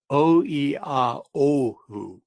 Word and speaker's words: Oiaohu: I'm going to correct you because I think it's important that we say it right. Oiaohu. O-E-O-O, which is dark. Okay, now, let me go back a second.